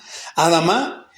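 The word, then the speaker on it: אדמה: cabe mencionar hermano que esta palabra adama adama perdón con acento en la adama es una palabra derivada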